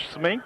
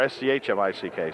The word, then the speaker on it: Schmick: I was told it was Smink by a couple people. It's in the program of Smink, but it's spelled S-M-I-C-K, so, or S-C-H-M-I-C-K, so it's Schmick.